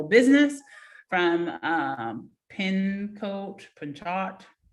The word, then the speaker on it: Pinchot: from um penn coach pinchot i'm thinking that it's pronounced you know with the silent t um university she also